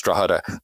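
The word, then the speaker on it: Drogheda: I think you know draada is pronounced you know so you go in and say well pronounce draada but don't pronounce the G right so we define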